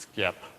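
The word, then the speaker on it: Sxip: drives so over at skip which obviously is pronounced skip and stands for the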